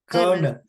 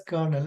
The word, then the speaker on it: colonel: a word known as c o l o n e l c o l o n e l how to pronounce that kernel kernel it has to be pronounced as kernel but I told wrongly